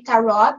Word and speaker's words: tarot: You can say tarot, you can say tarot, depending on the area of the planet that you are coming from.